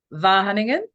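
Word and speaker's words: Wageningen: and soil physicist at and bear with me vah Hunan did I say it right oh I got a thumbs up wonderful vah hunting and University in the Netherlands her expertise is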